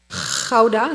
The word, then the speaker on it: Gouda: Gouda, that's the way we pronounce it.